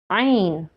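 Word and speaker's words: عين: How to pronounce this letter? Ain.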